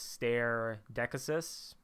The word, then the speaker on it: stare decisis: of nothing more stare decisis or decisis so i pronounce my latin with the classical um pronunciation some people might call this stare deccas i'm i've took in